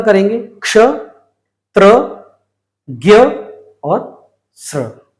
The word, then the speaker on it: त्र: ऐसे ही इसका उच्चारण है आधा त और र, मतलब त्र।